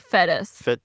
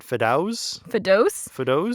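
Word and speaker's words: Fedous: fetus fetus oh no it's spelled f-e-d-o-u-s so it's like fetus Fidos his nephew so that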